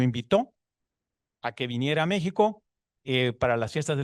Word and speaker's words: México: que había venido a México por dos motivos, porque México se escribía con X y se pronunciaba con J.